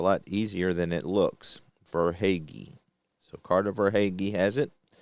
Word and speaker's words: Verhaeghe: Verhaeghe.